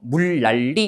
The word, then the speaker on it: 물난리: 그 다음에 얘도요. 리을 뒤에 니은 맞고 그 다음에 요 니은이 또 어디 앞에 왔어요? 리을 앞에. 여기에 해당하는 거네요. 그죠? 그래서 양쪽으로 유음화가 적용돼서 최종 발음은 뭐가 되는 겁니까? 그렇죠? 물난리 이렇게 되는 거죠.